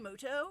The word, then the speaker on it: Muto: turn wait a minute is that yugi mudo actually his name is pronounced yugi moto we'll see about that